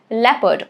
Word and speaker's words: leopard: Because of the silent letters, it's leopard. O is silent here.